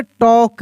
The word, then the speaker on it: talk: Silent होता है, यानी एल साइलेंट लेटर है। अगर लिखा रहता है यहाँ पे TALK, तो इसको पढ़ेंगे टॉक।